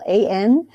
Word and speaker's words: Wollan: And it's Wollan. And my first name is spelled weirdly like Mickey Mouse. So it's Wollan. And people try to pronounce it like Wollan. And it's Wollansky without the ski.